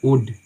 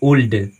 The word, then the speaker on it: would: यहाँ एल आया है, तो इसका उच्चारण हम करेंगे उड, ना कि ओल्ड, वो रॉन्ग उच्चारण है, गलत उच्चारण है, इसको हम पढ़ते हैं उड, कुड, सुड, ऐसे पढ़ते हैं, एल साइलेंट होती है।